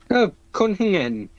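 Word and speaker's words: cwningen: Cunhingen.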